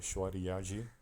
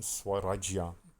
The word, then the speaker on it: Swarajya: On the 7th October 1673, the Marathas won the fort and included it in the Shwariyaji. I need to work on the pronunciation, Swarajya.